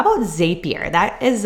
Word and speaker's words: Zapier: How about Zapier? That is like, or maybe it's Zapier. I think it's supposed to be Zapier rhymes with happier.